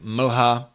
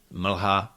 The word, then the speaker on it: mlha: You will find l in the function of a syllabic consonant in longer words like mlha, mlha, that's fog, or slza, slza, that's tear. The principles here of pronunciation are exactly the same as what we talked about before. All these consonants have to be short and clear.